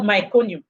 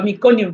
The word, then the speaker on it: meconium: to pass that too it's called myconu or meconium depending on how you want to pronounce it so that yellowish milk